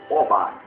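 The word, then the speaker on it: Hobá: Ele continuou a persegui-los até Robá. Robá. H-O-B-A. Ou pronunciamos Obá, que fica ao norte da cidade de Damasco.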